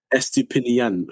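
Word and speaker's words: Estupiñán: Estupinan, I can never say his name, man. Estupinan. Estupinian. That's the one.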